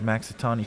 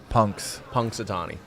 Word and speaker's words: Punxsutawney: Sounds like Maxitani Phil's going to not spot his shadow, right? Is that the Punxsutawney Phil. Paxitani? Punks. Punxsutawney. Man, that's what I get for saying it wrong down this neighborhood.